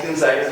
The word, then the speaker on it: Gonzaga: First of all, the name of the university sounds Italian, right? Although I know we have differences on how we pronounce it, so I had to watch the YouTube video, otherwise naturally I would say Gonzaga.